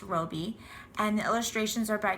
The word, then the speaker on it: Robie: H Harris a lot of people think it's Robbie but it's actually a woman and it's pronounced Roby and the illustrations are by Chris rashka this